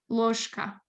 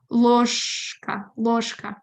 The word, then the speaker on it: ложка: After, ложка, not ложка.